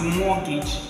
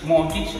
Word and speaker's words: mortgage: The first one is pronounced as mortgage. Mortgage, mortgage. I'm gonna write it now. M-O-R-T-G-A-G-E. Now look at this word. This is the sound. So we say mortgage.